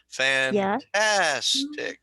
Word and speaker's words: fantastic: what about this word you said three syllables emphasis on the second fantastic yeah fantastic fantastic okay